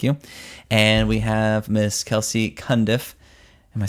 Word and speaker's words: Kelci Cundiff: And we have Miss Kelsey Kundiff. Am I saying it right? Yep. Okay. I usually mispronounce people's names, so that's good.